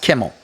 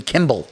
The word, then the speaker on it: Kimmel: I know it's pronounced Kimmel. My mom, for some reason, adds B's in there, so he's Jimmy Kimball.